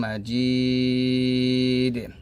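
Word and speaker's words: مجيد: দুই পেশ দুই আছে যদি এখানে থামেন তাহলে দালটা সাকিন হবে তাহলে হবে ইন্নাকা হামিদুম মাজিদ যেহেতু আমরা তিন প্রান্তে ডালটা সাকিন করব কলকলা করতে হবে এখানে আবার ইন্নাকা হামিদুম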